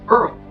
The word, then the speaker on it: IRRRL: But in the mortgage industry, we just say Earl, which stands for interest rate reduction refinance loan, pronounced Earl.